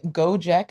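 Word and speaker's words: Gojek: Uh Go Jack is spelled G O J E K.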